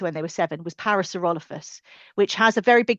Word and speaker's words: Parasaurolophus: Parasaurolophus what I would say parasaurolopus. Is that massively wrong?